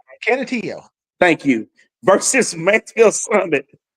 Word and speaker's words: Canutillo: Canutillo.